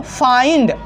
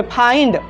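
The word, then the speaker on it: find: Next है दोस्तों फाइंड, आई आ रहा है ना, आ रहा है कि नहीं आ रहा है? यहाँ पे फाइंड, आई आ रहा है ना। तो यहाँ पे भी इस वर्ड में भी हम लोग देखते हैं कि IND एक साथ आ रहा है।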